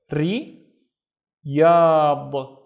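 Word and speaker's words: الرياض: Since this is a sun letter, I replace il with ir. And then ri, ri. Remember, the ri is doubled. So ri, yad, riyad, which is Riyadh.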